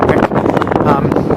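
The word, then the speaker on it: Vík: Here we are on our last stop on Monday before we go check into our hotel in Wick. Pronounced spelled V-I-K, Wick.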